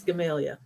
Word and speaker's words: Gamaliel: And how would you spell that, or how would you pronounce that? Gamaliel. It's Gamalia.